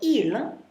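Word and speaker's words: ils: And notice I don't pronounce the s on that. Even though it's plural, there is an s. You don't pronounce it. So ill means they can mean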